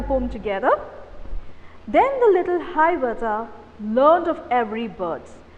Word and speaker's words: Hiawatha: So, Hiawatha is the way you pronounce the word.